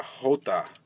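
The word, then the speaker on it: Jota: uh Lamborghini mura uh hot I guess is probably the correct pronunciation of it supposed to be the Spanish uh pronunciation for the letter j and I believe in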